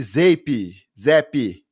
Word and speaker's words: Zappe: E os Patriots bateram os Browns por 38-15, sob o comando de Bailey Zappe. Eu vou sempre errar a pronúncia, é difícil. Vem de Zap. Bota vem de Zap que você não erra.